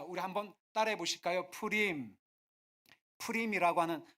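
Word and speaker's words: Purim: 우리 한번 따라해 보실까요 프림 프림이라고 하는 한글 성경에는 불임이라고 되어 있는데 히브리식 발음은 비읍 발음이 아니라 피읖 발음이에요 그래서 프레임이라고 하는 말은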